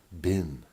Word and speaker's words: bean: EE n is said bin it looks like you would say it like scene as in have you seen my glasses or like between as